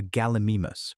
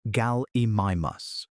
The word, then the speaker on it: Gallimimus: Watch a slow-motion video of an ostrich running and then watch a paleontological animation of a Gallimimus, pronounced gal-e-mi-mus, a real dinosaur from the late Cretaceous.